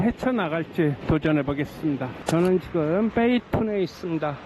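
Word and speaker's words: 北屯: 저는 지금 베이툰에 있습니다. 한자로 북둔이라고 쓰지만 읽는 건 베이툰이라고 읽습니다.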